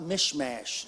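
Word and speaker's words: Michmash: of the the most interesting stories is about mishmash say that with me mishmash if you can spell it I'll give you 25 cents at the conclusion of the service mishmash you read about it in second Samuel and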